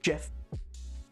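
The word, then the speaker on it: Geoff: oh my God yeah it's GE e o f f instead of Jeff but it's yeah pronounced Jeff yeah anyway he still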